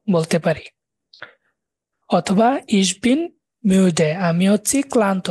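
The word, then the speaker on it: müde: পারেন ইস বিন মিউডে, এম ইউ ডি এ ডে, মিউডে। উমলাউটের উচ্চারণটাও গুল করা হয় না, উ উ এরকম, উ উমলাউট, তাহলে মিউডে এরকম করে বলতে পারেন।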